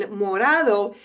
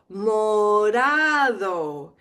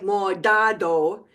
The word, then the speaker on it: morado: the word, like in morado, it's actually pronounced like a soft D. Morado. Not a hard D, not like modado, but morado.